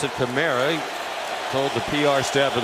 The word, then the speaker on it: Kamara: a running back run he does pronounce it camra told the pr staff of the saints's mother pronounces it Kamara he prefers CRA Norcross Georgia Breeze looking deep